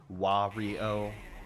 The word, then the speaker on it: Wario: feel so bad cuz it's definitely pronounced wah reow with you because he says wah but I would say Wario cuz my pronunciation is